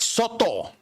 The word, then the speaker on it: Soto: Soto.